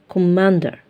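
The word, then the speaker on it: commander: اسير طيب كوماندر قائد كوم في دبل ام يعني اتنين ام ورا بعض بيتنطقوا ساوند واحد اندر بس هنا مش هتنطق سوند واحد عارفين في العربي عندنا الحرف اللي عليه شده مش بيتنطق على مرتين اهي دي شبهها كوماندر كوماندر طيب عندي بعد كده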